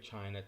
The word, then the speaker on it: Qin: belongs to is the chin family which is spelt in our alphabet with q i n and in this book